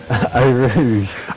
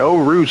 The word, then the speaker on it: Eau Rouge: How do you pronounce it again? Eau Rouge. Eau Rouge. I don't know why I want to call it something different. Eau Rouge.